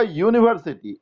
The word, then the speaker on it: university: यूनिवर्सिटी, यूनिवर्सिटी नहीं। और यह साउंड जो है वो कॉन्सोनेंट साउंड है। ये नो डाउट वॉवेल लेटर से शुरू हुआ है, लेकिन इसका उच्चारण कॉन्सोनेंट की तरह हुआ है।